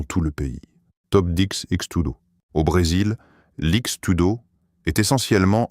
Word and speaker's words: X-Tudo: Le nom utilise la lettre X qui en portugais se prononce de manière similaire au mot anglais cheese et tudo qui signifie tout.